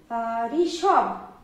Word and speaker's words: ঋষভ: এই ঋষভ আর এই ঋষভ একই উচ্চারণ হচ্ছে। এই জন্য রি এর কিন্তু উচ্চারণ রয় হস্যি দিয়ে হয়ে যায়।